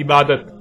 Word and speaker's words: عبادت: یا بولا جائے گا۔ عربی کا لفظ عبادہ جب اردو میں شامل ہوا تو اسے عربی کی بجائے اردو لہجے میں تے کے ساتھ بولا گیا اور بولا جاتا ہے، یعنی عبادت۔ اب آتے ہیں اس